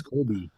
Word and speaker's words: Kobe: No, it's Kobe. No, it's spelled.